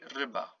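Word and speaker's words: ryba: so um yes so it is pronounced like the i in the word fish in english for example when you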